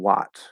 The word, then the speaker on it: what: glad you asked this in those words there is no ah there it's not was and what that's not how those words are pronounced they're spelled with a's but they are never pronounced that way that's not how we say those words in these two words was and what the sound is uh it's the sound like in the cup vowel right uh um so